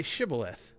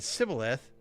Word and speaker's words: Shibboleth: And if he replied, no, then they said, all right, say Shibboleth. And if he said Sibboleth, because he could not pronounce the word correctly, they seized him and killed him at the fords of the Jordan.